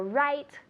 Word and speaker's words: write: So it's the same pronunciation, but careful, it's different spelling.